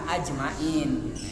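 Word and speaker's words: أجمعين: ajmain wasim naon tapi yang masur itu yang paling tepat sesuai aslinya mah ajmain yang aslinya ajmain tapi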